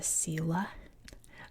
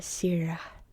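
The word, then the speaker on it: Silla: Um, but that empire would eventually be conquered by, as we'd say in English, the Sila, or in Korean, the Sira Kingdom, which was one of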